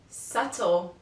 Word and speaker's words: subtle: lamb comb thumb too the letter B is also not pronounced after the letter T for example doubt Det subtle letter C the letter